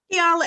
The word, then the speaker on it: Keyannla: Keyannla, everyone actually calls me in the community.